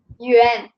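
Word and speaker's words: 元: And when you have in Chinese language, when you have A and N together, you pronounce it like this. Yuan.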